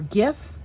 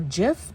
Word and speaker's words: GIF: You know, GIF, the peanut butter company, says it's GIF, but everyone else says it's GIF. So I think the peanut butter company is just wrong.